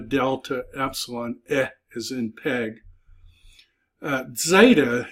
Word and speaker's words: Zeta: Epsilon is in peg Zeta is really a D and Z sound together Zeta you're kind of half